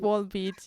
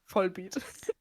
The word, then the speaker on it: Volbeat: with Wallbeat. Yes. Oh, is that how you pronounce that? I Yes. would have said Vollbeat. No, because there's also like only one L in that word.